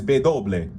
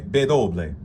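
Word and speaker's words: ve doble: If you say W in Spanish, it's bedoble. Okay? Bedoble.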